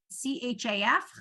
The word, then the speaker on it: chaf: But they both say that they both are pronounced the same. Ch. Okay, and it's called a chaf. So if you're writing down the names of the letters, it's C-H-A-F, chaf.